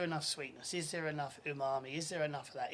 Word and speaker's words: umami: Umami. I always say it wrong. I always say unami.